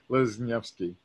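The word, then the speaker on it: Leśniewski: Lesniewski.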